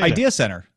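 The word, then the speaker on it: IdeaCentre: right the ID dener how do you say Idea Center Idea Center it's all like one big word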